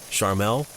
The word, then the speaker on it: Charmel: The woman, Charmel Teague, I guess it's pronounced sort of like Charmin and Carmel combined. Charmel.